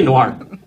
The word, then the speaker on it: noir: talk about no okay I like saying Noah me too I think i' say it wrong and too SL I never say Noah it's kind of like anime ever someone tells you no it's not called anime it's called anime and then I still say it wrong cuz I don't want to sound like well no let's say Noir Noir fa noasa keep